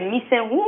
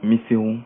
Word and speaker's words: Missirou: C'est Missenhon ou Missirou? Missirou. Missirou, voilà, je prononce mieux que vous.